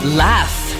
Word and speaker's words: laugh: Read the words where PH or GH makes the F sound. Photo. Laugh.